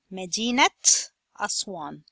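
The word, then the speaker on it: مدينة أسوان: The ta marbuta pronunciation, it changed from A sound to the T sound and became Madinatu Aswan. Madinat Aswan.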